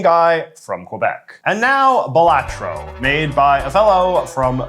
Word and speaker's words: Balatro: is the objective of batro batro I'm so glad you pronounced it properly because I know you've been intentionally you've you've intentionally been trying to get it to stick in your head as bagal Lago or something so it took